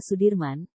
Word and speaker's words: Soedirman: dalam memperjuangkan kemerdekaan Indonesia Jenderal besar Sudirman menurut ejaan Suwandi dibaca Sudirman Ia merupakan salah satu